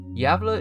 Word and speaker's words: Gävle: Square of yava Sweden yava is spelled gav l e and I apologize for my pronunciation of yava but that's the closest I can get to saying it right welcome to the absurds